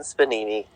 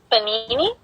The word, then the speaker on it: panini: no one does chicken spanini you're not even saying it right god panini i said chicken spadini